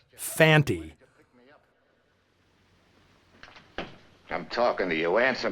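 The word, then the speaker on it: Fante: I'd assumed Lee Van Cleef's character was named Fanny, since that's how both Earl Holliman and Brian Donlevy always pronounce it. It's only when Conte speaks the guy's name does he clearly say Fanty.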